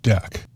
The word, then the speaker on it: deque: the name de queue pronounced deck so as to not confuse it with a verb about removing things from a queue it's really a double-ended